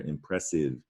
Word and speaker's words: impressive: get impressive now ide there is an e you don't it doesn't make the i long though that silene rule doesn't apply here impressive no words end with